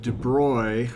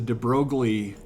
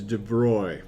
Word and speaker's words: de Broglie: and then in 1923 a french physicist named de broy i didn't know that that's how you pronounced it i think you asked most general kim students and they're like yeah it's the de broglie something or other and actually i guess in